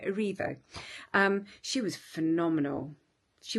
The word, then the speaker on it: Erivo: aivo sorry I do I always say it's AO and it's aivo Cynthia arivo um she was phenomenal